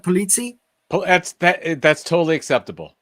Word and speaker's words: Pulizzi: And Joe, and I'm pronouncing this right, Pulizzi? That's totally acceptable. In the States we say Pulizzi. But if you were in Sicily, you'd say Pulizzi.